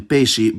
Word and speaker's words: peixe: It’s a bit weird, most of the time it’s pronounced [ʃ], like in peixe, but sometimes it’s also pronounced [s], [z], or , like in explodir, exato, or fixar.